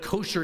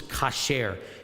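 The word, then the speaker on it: כשר: Hebrew but the word but kosher is a is a is a Yiddish pronunciation the Hebrew word is Kasher and Kasher means clean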